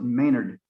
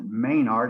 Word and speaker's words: Maynard: In America, we pronounce it Maynard, but over there in England, they pronounce it Maynard, and he went by the name Maynard.